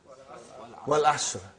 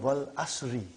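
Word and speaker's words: وَالْعَصْرِ: What is the first ayah? Wal Asr. Have you ever noted down what is written there? It's called Wal Asri. It's majroor. But you always say Wal Asr.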